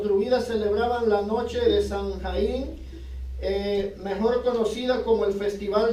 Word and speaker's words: Samhain: Los druidas eran satanistas que alababan y servían al dios de la muerte, Samhain, pronunciado Sama.